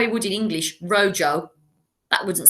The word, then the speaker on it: rojo: at rojo the red you'll notice that rojo is spelled r-o-j-o but we don't pronounce it how he would in english rojo that wouldn't sound right would it so you